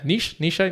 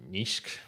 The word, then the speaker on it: Nietzsche: Nietzsche? No, it's in German it'd be like Nietzsche.